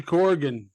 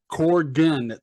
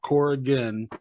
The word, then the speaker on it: Corgan: I really Billy Billy Corgan Corgan two syllables not core again I always hear that